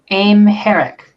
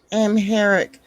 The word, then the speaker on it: Amharic: How is it pronounced? There's apparently 32 million speakers. Um, Amharic is apparently how it's supposed to be pronounced. Amharic.